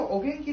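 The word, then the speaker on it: お元気: Nah, untuk berikutnya, sacho o genki desu ka? Ini pengecualian nih. O genki. Ada dua, tapi dibacanya o.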